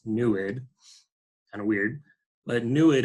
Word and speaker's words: NEID: the nid spectrometer spelled NE D but it's pronounced neid kind of weird but nid actually stands for